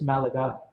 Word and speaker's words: Malachi: Malachi, but it's spelled like Malachi, but it's Malachi.